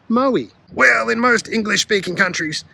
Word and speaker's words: Moe: For the rest of the world, the E might be silent, but here the town is called Moe.